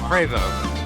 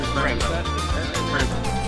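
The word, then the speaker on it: Prevost: Prevo. So it's a French-Canadian company. So you have a French-Canadian pronunciation. Prevo.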